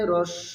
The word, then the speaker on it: হ্রস্ব: দর্শক, এটার বিশুদ্ধ উচ্চারণ হবে হ্রস্ব উ। অনেকে হস্য উ বলে, আসলে হস্য উ সঠিক উচ্চারণ নয়।